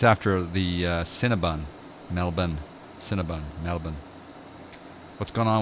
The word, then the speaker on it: Melbourne: course in Americans especially completely butcher Melbourne its Melbourne it's not male born its Melbourne and yeah it's Brisbane Brisbane its